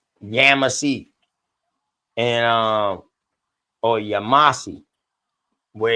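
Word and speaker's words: Yamasee: So hearing folks say they say, they be saying Yamasi. You ever heard them say like that? Yamasi. I'm like that is actually the right pronunciation. I didn't know if it was or not. Yeah. Yamasi.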